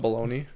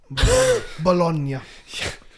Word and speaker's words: Bologna: play against blonde bologna it's not it's not baloney bologna why am i i